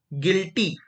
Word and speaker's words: guilty: जैसे गिटार, आपने देखा होगा गिटार, तो गिटार की स्पेलिंग क्या बनेगी? GUITAR, गिटार। क्लियर हो गया? दूसरी गिल्टी, GUILTY, गिल्टी, गिल्टी, GUILTY, गिल्टी।